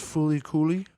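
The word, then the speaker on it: FLCL: uh number 10 um it's f l CL but it's pronounced foly coly that I've heard of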